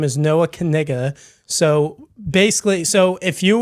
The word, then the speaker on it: Knigga: yeah it's C like it starts with a K and then you say it so you're supposed to say kiga yes exactly yeah so